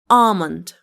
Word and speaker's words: almond: It is pronounced like almond.